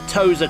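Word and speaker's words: Tosa: and then up to the Tozer corner it's spelled t-o-s-a not uh not what you all thought it was spelled up up the hill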